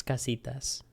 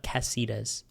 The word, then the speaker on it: casitas: It's casitas, not cassitas.